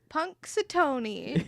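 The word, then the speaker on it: Punxsutawney: know the word pataski puneton Punk saton that's how you pronounce it yeah punks baloney punks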